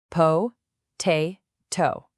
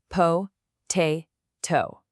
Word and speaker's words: potato: It's got three syllables, right? Po, te, to.